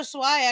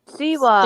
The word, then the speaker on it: Siwa: And so JoJo Swai actually came and had and did I don't know how to say her name. What is it? Siwa.